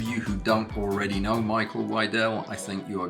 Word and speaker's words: Micael: Yeah, I mean, please say Michael. Here in Sweden, the name is pronounced Mikael, but no one calls me that.